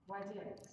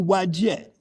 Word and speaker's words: Wadjet: Wadjet. Wadjet. Thank you very much. Okay. So now we go back to Wadjet.